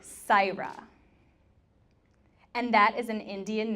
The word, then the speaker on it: Saira: that type you know her name is spelled s a I our a so it sounds like saira and that is an